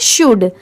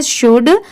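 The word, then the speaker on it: should: शुड। ठीक है? इसकी रियल प्रोनाउंसिएशन है। करेक्ट प्रोनाउंसिएशन है शुड। तो इसे हम शुड नहीं पढ़ेंगे। यहां पर ये जो एल लेटर है वो साइलेंट है।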